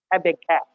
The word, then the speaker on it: Habakkuk: So let's talk about the prophet Habakkuk, or Americans saying Habakkuk. Oh, they pronounce things weird.